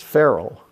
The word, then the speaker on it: Ferrell: it for you right it's feral you ever heard of will Ferell you shouldn't have any problem okay my name is frell that's true true so but but this this blog is feral f e r r